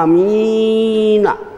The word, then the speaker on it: amin: Bacanya amin. A-nya itu dianjurkan 6 harokat kalau mampu nafasnya. Paling tidak 3.